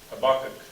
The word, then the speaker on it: Habakkuk: So we might do those two books when we come back, Nahum and Habakkuk. So y'all practice saying Habakkuk while you're gone. Habakkuk. See, I can't even look. Habakkuk. Habakkuk, that's it, Habakkuk.